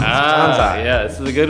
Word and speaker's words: Kansei: So it is Kansei. Kansei. Kansei. Okay. Like Jose Canseco. Okay. You know, like Kansei. That's how I originally started saying That it. is how you say it.